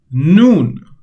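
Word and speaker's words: نون: in this lesson is noon. Noon noon or n. The English equivalent of it is n.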